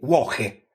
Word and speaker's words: Włochy: un popolo celtico effettivamente in polacco Italia si dice wohe ma si scrive voki con quella lettera la L barrata che in polacco si legge u italiani poi si dice